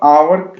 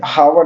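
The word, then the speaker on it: hour: Word, यहाँ पे देखिए ये एच ये साइलेंट है, तो इसको हम आवर पढ़ेंगे, हावर नहीं पढ़ेंगे, तो इसलिए हम सिंपली 8 का क्या लगा देंगे, एन लगा देंगे।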